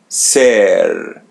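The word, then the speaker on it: ser: As you see the letter E or E in Portuguese, so pronounce it as E. S. And the R comes in the end. So pronounce it as English R. Sir sir let's conjugate verb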